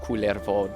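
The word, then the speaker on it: Kullervo: kvo is one of I think it's pronounced KERO don't ask me I don't speak Finnish I don't really understand how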